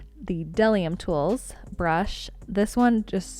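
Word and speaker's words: Bdellium: I was recently informed that the B in what I was calling Bedellium is silent, so the Delium Tools brush, this one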